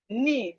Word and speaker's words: knee: Knife, knee. The K here is silent.